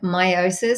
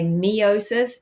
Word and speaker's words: meiosis: Meiosis, some may say meiosis, but I'm Australian, so therefore my accent is on the first part, and I say meiosis. Okay, both are correct.